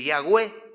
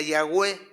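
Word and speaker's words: Yahweh: en el hebreo antiguo no existían vocales entonces es una y una h una w y una h se pudiera decir que se pronuncia yagüe era difícil entonces se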